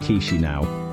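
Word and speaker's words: Chișinău: The capital is Chisinau, pronounced Chisinau, a city with leafy parks and smiling faces.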